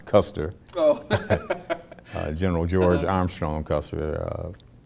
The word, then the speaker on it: Custer: The average person would say, oh, the only thing in Monroe is custard. And for some reason, they couldn't pronounce Custer.